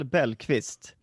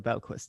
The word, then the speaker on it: Bellqvist: I think in Swedish I would say Bellqvist. Okay. Bellqvist, but in English I say Bellqvist.